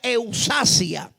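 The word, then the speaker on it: ἐξουσία: Ahora, también poder se le define como la palabra griega que se pronuncia eusasia.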